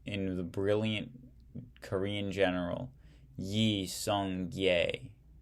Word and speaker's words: Yi Song-gye: In 1392, in the brilliant Korean general Yi Song-gye Kye is how it's pronounced, I guess, set up the Choson dynasty.